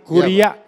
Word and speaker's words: curia: Oke, artinya Ius curia novit itu hakim. curia bacanya bos, itu bahasa Latin. Makanya Anda salah juga. Ius curia novit itu hakim dianggap tahu hukum. Bukan curia, bos saya guru bahasa Latin, kuria Iya.